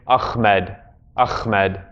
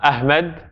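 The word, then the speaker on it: أحمد: That's not the right H, really. It's Ahmed. But it's not Ahmed and it's not Ahmed. It's between the two.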